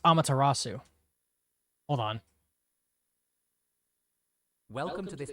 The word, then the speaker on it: Amaterasu: I put say Amatarasu. It's pronounced Amaterasu.